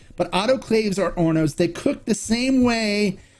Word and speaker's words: hornos: are ornos okay now it may look like hornos it's ornos the h is silent but autoclaves are ornos they cook the same